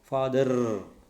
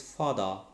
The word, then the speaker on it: father: that in pronunciation rules if an english word ends in r the letter r then it it will be silent okay so i said that we should not say father mother it is father and it is mother okay so the word